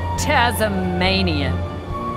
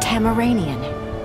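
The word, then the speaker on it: Tamaranean: so your Tazmanian it is pronounced kam Iranian hammer let's get this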